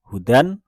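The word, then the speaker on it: هُدًى: Sehingga seperti di kata hudan, maka ketika diwakofkan di sana dia menjadi huda, atau duhan dia menjadi duha.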